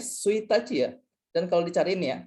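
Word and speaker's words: 一日: Jadi ini buat tanggal 1, ini suitachi.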